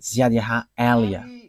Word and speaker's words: Ziad Elia: that is my name, so I pronounce it as my father pronounced it, Ziad Elia.